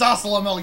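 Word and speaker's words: Zasalamel: It's pronounced Zossalamel, you dingus.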